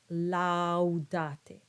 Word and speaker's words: laudate: So you have two clear ah sounds and with a little diphthong, laudate.